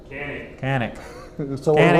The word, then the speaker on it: Canik: Canik. Canik. So we're wrong on both. Janik is the Turkish pronunciation.